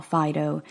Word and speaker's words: phyto: plants that's really all Fido is indicating to us and that's spelt pH whitey oh I know I'm pronouncing it Fido like it's a dog's name but that's just my accent it's by two medicines